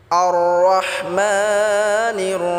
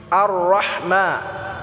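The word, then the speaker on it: الرحمن: রাহিম আর রহমা রহমা আর রহমা বললে হবে না আর রহমা হলে এটা ছোট হা হয়ে যাবে তখন এটা ভুল উচ্চারণ হবে এটা গলায় চাপ দিয়ে উচ্চারণ করতে হবে মা এক আলিফ টেনে পড়তে হবে আর রহমান রাহিম এখানেও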